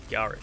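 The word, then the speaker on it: Garik: It's with like a softer R, Garrick.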